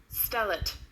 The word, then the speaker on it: stellate: And this is how it is pronounced. Stellate.